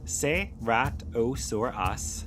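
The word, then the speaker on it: Ceratosaurus: Seratosaurus pronounced seatosaurus lived around 150 million years ago during the late Jurassic period in what is now North America and parts of Europe.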